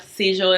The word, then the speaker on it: Sigil: once again tammy tanuka seizure inspired i believe i'm pronouncing it right because i was told down in my comments that it's kind of like with a j versus a g how it spells so i hope i'm